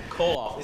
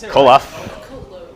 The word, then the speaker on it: Koloff: I'm sorry, I don't know how to pronounce that, but Koloff. Koloff. It's like Kolo. It's like a loaf of bread.